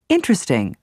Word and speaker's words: interesting: aspirin separate chocolate family the first e in interesting the first I in Aspirin the first a in separate the second o in chocolate and the i in family are all dropped so that you hear interesting aspirin separate chocolate and family some of the words